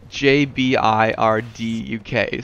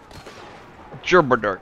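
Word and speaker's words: JBirdUK: partner but yeah uh so let's see that's JB i r d u k so how do I pronounce that I pronounced that Gerber right no of course not it's got to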